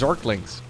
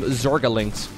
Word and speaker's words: zergling: so much better especially against zorklings or i guess back then we called them zorga links that was like an extra syllable yeah so roaches roaches